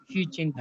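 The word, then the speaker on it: Xi Jinping: XIJINPING, यस सर, हाँ XIJIN, शी जिनपिंग, हाँ, शी जिनपिंग।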